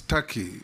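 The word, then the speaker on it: Türkiye: the comments made by it is not called Tak it's Taki it's only written Tak but it's pronounced Taki thank you that is the name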